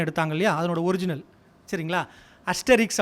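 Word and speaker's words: Astérix: For example, 2 வருஷத்துக்கு ஒரு தடவை ஆஸ்ட்ரிக்ஸ் அப்படின்னு சொல்லிட்டு ஒரு பாப்புலர் கேரக்டர் இருக்குது. நம்ம தமிழில் புலி அப்படின்னு ஒரு படம் எடுத்தாங்க இல்லையா, அதனோட ஒரிஜினல், சரிங்களா? அஸ்டெரிக்ஸ் அப்படின்னு அதை ப்ரொனவுன்ஸ் பண்ணணும்.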